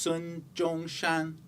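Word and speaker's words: Sun Zhongshan: standardized Chinese called Mandarin this man's name is pronounced son John shun though he did speak Mandarin he natively spoke Cantonese which means he would have pronounced these characters quite differently one way to romanize the Cantonese pronunciation of these characters gives us this and that's why we say Sun yat-sen romanization means transcribing the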